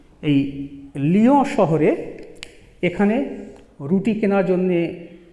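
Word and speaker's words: Lyon: তো এরকম একটি ভয়াবহ অবস্থার মধ্যে ফ্রান্সের লিও শহরে, শহরটির নাম হচ্ছে লিও, ইংরেজিতে লিখলে এরকম হয় কিন্তু বাংলা উচ্চারণ হবে লিও। এই লিও শহরে এখানে রুটি কেনার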